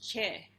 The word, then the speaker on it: Choi: But they explained to me that in Korea, Choi is actually pronounced Che.